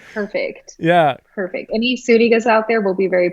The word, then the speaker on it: Zuniga: want to say it's spelled Z-U-N. So, I mean, you want to say Zuniga, but Zuniga. How's that? That's right. All Pronounce with an right. S.